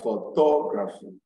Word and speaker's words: photography: y and a l you place the stress on this little salt from the end at least from the end you can three syllables backwards from the end you count one two three backward that third syllable from the end is what is stress so we have democracy